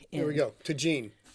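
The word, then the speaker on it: Tajín: here we go to Gene yeah which rhymes with the gene but that's completely beside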